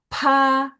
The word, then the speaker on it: 怕: 他把爸 Ya, P lebih jelas aja ya, PH. Dia bacanya PH, jadi ada angin ya. Pa, 他 ya, nada dua.